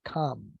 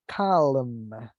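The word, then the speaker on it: calm: can say relaxed or come just remember that whenever we use this adjective we don't pronounce the letter L so we only say come come I'm not saying Callum I'm using count come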